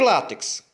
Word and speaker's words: látex: pronuncia látex e látex a palavra é paroxítona sílaba mais forte é o lá e termina com x portanto nem termina com